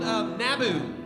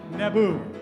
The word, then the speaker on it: Naboo: There's a place called Naboo, Naboo. and it does not rhyme with Tatooine.